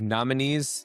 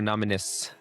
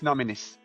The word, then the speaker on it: Nominis: So, Sneer Levy, CEO and founder of Nominees. Did I pronounce that right? Is it Nominees or Nominus? It's Nominus.